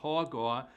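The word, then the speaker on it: הגה: You have Strongs H1897 called Haga is pronounced hogar.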